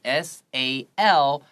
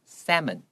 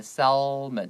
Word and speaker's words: salmon: 字的确它的拼法是 SALMON，这边要特别注意这个 L 是不发音的，你会念成 salmon，不要念成 salmon，不行哦 salmon，而且它单